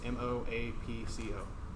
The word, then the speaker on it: Moapco: That's our simple username, all lowercase, M-O-A-P-C-O, right? That's how you spell it.